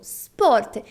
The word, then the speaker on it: sport: temos a palavra porta Repita comigo Sport não é esporte como no português essa letra É se ela não está escrita na palavra em italiano ela não deve ser pronunciada agora vejamos esta outra